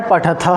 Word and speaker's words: पठः: अब इसमें ध्यान रखना है पठः और पठ। एक में द्विवचन वाले में विसर्ग है और बहुवचन वाले में विसर्ग नहीं है। तो उच्चारण वैसे ही होगा। थोड़ा सा उच्चारण में भेद आएगा किसका? विसर्ग का। एक जगह द्विवचन में जो है वह है पठः और जो बहुवचन में है वह है पठ।